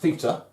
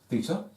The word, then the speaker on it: theta: Um, it's it's pronounced theta. It's a Greek letter of the alphabet, theta, and it's often used in maths to stand for a missing angle.